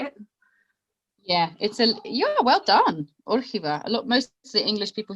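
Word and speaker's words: Órgiva: Yeah, well done, Orchiva.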